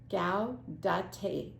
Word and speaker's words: Gaudete: Gaudete.